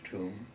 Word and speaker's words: Tomb: "Admiral, if you don't mind, it's very easy to assume that my name is Tomb, but for generations my family has pronounced it Tom."